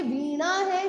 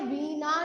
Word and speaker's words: वीणा: अब ये वीणा है, वीणा नहीं है, न नहीं है, वीणा।